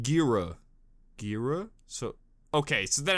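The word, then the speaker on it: Ghira: Gira's name is pronounced Gira.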